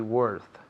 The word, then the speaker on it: worth: Se escribe con una O, pero se pronuncia como si fuera una E. Worth. Worth.